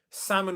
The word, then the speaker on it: salmon: Salmon was one of them. So in the word salmon, there's no L sound. It's just silent. It's a short A sound instead.